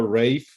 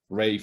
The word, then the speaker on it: Ralph: con williams por cierto le digo rave porque será la forma en la que se debía de pronunciar su nombre rave normal porque a veces se escucha el vals pero bueno josemaría te